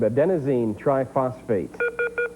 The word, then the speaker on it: adenosine triphosphate: ATP, adenotriphosphate. Three-letter abbreviation, but I want you to give me its full name, Conroe. You just left out one syllable there, Jacob, adenosine triphosphate.